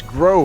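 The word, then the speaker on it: Grøh: So, one of the new characters is this Grow fellow, correct? Am I pronouncing that correctly? I believe it's Grow. It has one of those, I think, Scandinavian O's.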